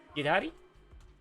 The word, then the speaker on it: Yidhari: Yiddhari Yidhari. That's how you say it. Yidhari. Yidhari.